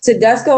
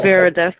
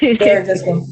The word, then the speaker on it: Beredes: Tedesco, I believe you said. Did I say it correctly? It's Beredes, it's fine. Beredes.